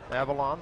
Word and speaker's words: Avilan: Leander is help me out with the exact pronunciation Drew Avalon Avalon Avalon Avalon the left-hander he had a little hamstring deal